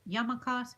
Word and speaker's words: yarmulkes: those hats are called oh boy it's a yarmulkes yarmulkes yarmulkes all right capitalized word the strongest syllable is that yarmulkes I must say young